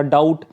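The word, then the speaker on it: doubt: तरह डाउट ठीक है इसको हम इस तरह से नहीं पढ़ सकते डाउट ये डाउट नहीं है यह क्या है डाउट बी जो है वो साइलेंट है तो कुछ वर्ड्स ऐसे होते हैं जिनमें बी साइलेंट होता है और कुछ वर्ड्स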